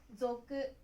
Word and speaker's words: 族: Nó được đọc là "zoku."